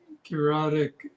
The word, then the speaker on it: Kairotic: No, I just realized that Kairotic rhymes with erotic.